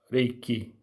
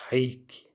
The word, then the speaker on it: reiki: eu gosto de pronunciar reiki, porque na língua japonesa, reiki não seria com R, seria com H, né? É um som de H, reiki.